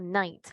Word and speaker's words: knight: A knight, it's a knight. Muy diferente a noche, it's night, ¿verdad? Diferente.